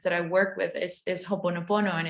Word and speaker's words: Ho'oponopono: So I've come across it, but I can never pronounce it. It's Ho'oponopono.